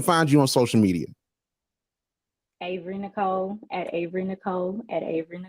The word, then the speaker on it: Ahvery: spelled just like that it's Avery it's not ivory um my mom has an H in her name she put